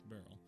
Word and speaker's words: beryl: cornet I had to look up how to pronounce Barrel apparently it's Barrel it's actually a type of